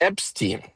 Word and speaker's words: Epstein: I uh disturbed by by the way it's it's pronounced Epstein.